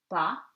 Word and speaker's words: pas: S is silent at the end of the word. Pas, très.